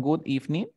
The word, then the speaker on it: good evening: Porque esta D se encuentra entre dos sonidos de vocales. ¿Te diste cuenta? Por lo tanto, lo voy a pronunciar como si fuera una R y digo good evening.